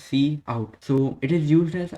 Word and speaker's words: cout: is also predefined and it is pronounced as c out so it is used